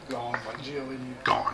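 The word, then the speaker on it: Gaughan: brendan gone 42 of 99 is that the christo correct pronunciation gone that's what i thought 42.99 i was going to put an extra syllable in there because there's more letters than that slugger lob or slim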